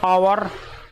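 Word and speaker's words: hour: मैन इसी तरह से एच ओ यू आर आवर ववर मतलब घंटा और इसमें भी एच साइलेंट होता है तो क्या आता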